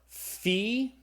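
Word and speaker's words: phi: We have the fee. Okay. It's the ph sound like in the English word phone. So the fe is a f sound f sound.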